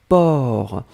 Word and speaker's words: porc: Alors souvenez-vous que porc, on ne prononce pas le C final. D'accord? Mais on doit quand même l'écrire. Donc vous écrivez P-O-R-C. D'accord? Donc porc, P-O-R-C, le C final n'est pas prononcé.